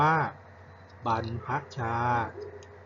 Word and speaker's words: บรรพชา: พุทธเจ้า เสด็จ ออก บรรพชา รยก นี้ คำ ที่ ใช้ บรร ร หัน คือ คำ ว่า บัน พัคชา บรรพชา นะ ครับ กิจกรรม ยัง ไม่